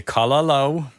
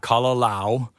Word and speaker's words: kalo: And when you say kalo, make sure it's not kalao. Lao, right? Lao. If you have the a sound, it's kalao. Kalao. But what you want is with the ooh sound at the end.